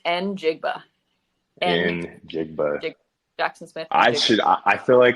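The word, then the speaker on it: Njigba: say his last name and it's just n jigba and then Jackson Smith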